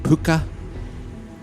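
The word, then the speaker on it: púca: Pucka, pronounced puka, could take the form of any animal and caused all sorts of mayhem for farmers milking cows or horse riders.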